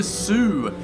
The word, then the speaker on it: soO: 1115 sort of position over here is Mr Sue so his name ISO and I'm pretty sure